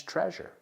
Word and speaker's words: treasure: Vamos a pronunciar esta palabra. Treasure. Treasure. Treasure. Se pronuncia como measure, medir, right?